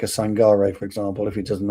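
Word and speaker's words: Sangaré: I think actually you pronounce his name Sangare because it's a dot over the E. So Sangare.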